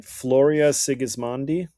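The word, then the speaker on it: Floria Sigismondi: How do you pronounce the director's name? Floria Sigismandi.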